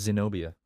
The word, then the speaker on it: Zenobia: Her name is Zenobia. It's actually a really cool name. It sounds like xenophobia, just with like some syllables cut out.